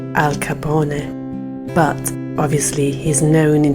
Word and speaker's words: Al Capone: Capone or is as his name should be pronounced Al Capone but obviously he's known in history with his naturalized American Al Capone name he was born into an immigrant family